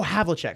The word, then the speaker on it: Havlicek: I don't even know who Havlic is. Really? Maybe I just don't know ball. Havlicek? Oh, Havlicek.